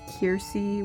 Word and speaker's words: Kersey: They still pronounce Kersey as Kiersey, which I don't mind that one. I actually like that pronunciation.